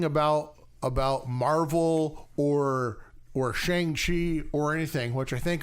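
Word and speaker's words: Shang-Chi: saying it wrong no they pronounced it and that's how it's always been pronounced as far as i can remember and then they called him shang chi i was like man we all have we all been saying it wrong for so long no you know what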